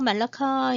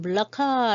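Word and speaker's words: Melaka: 날 것 같아요 먼저 말라카 입니다 말라카 는 으 말라카 라고 이제 많이 알려져 있긴 합니다 이렇게 써요 스펠링은 4 이것이 이제 요즘 그 말리 어른은 물라 카 라고 이제 얘기를 했어요 머물 라카 말라카 라고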